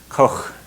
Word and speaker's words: Koch: It's a pronunciation. It's not in our language. The CH is Koch, like that.